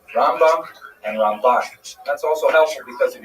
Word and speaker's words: Ramban: Rambam and Ramban is pronounced with the emphasis on the second syllable. Rambam and Ramban.